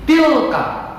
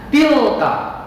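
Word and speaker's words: تلك: Bapak ulangi lagi, tilka. Dengarkan, simak baik-baik cara bacanya. Tilka.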